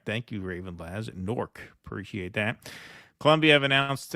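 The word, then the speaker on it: Newark: to uh Ravid L just FYI fellas locals pronounced new work like norc similar to H Houston Street hon Street in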